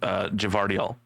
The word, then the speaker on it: Gvardiol: Josko Gvardiol is how I would pronounce that. Yeah, you get that G and the V in there, and JT's I think it's brain actually. I believe they're both. I believe they're both pronounced Gvardiol.